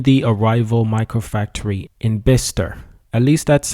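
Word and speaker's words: Bicester: electric van in the arrival micro Factory in bister at least that's how some say it's pronounced however apparently I've been pronouncing it by sister and that's incorrect so I do apologize so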